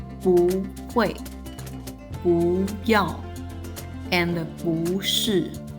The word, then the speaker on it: 不是: As a result, the tone of the negation character is changed to the second tone. The phrase is then pronounced as 不是, which is easier to say.